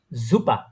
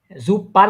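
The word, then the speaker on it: super: সুম বাইশপিল, জুপা, জুপা, জুপার বলি না কিন্তু আমি, জুপা, নেটিভ যারা আছে তারা এইভাবে উচ্চারণ করে জুপা।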